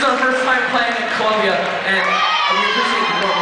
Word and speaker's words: Colombia: I heard, in Colombia, this is where they make all the cocaine, right? Yeah. You actually pronounce it. Well, hold on. You actually pronounce it Colombia.